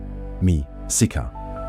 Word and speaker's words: Mēxihcah: in Lake Texcoco, who referred to themselves as Mexica, Nahuatl pronunciation, Mi-Sica, a tribal designation that included the Tlatelolco, Tenochca,